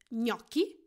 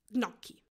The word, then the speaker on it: gnocchi: In Italian language, G-N is pronounced gnu. It is not gnu. So for the same reason, you would say gnocchi and not gnocchi.